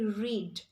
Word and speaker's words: red: different way for example if I had to say red in English I would say red but a person belonging to New Zealand would say read so their pronunciation is